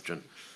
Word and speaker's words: Rathjen: Mr. Rathjen, is that the correct pronunciation? Yes, thanks. Rathjen.